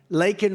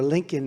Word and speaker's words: Laken: Laken Riley. And, you know, Biden was unable to pronounce her name, called her Lincoln Riley.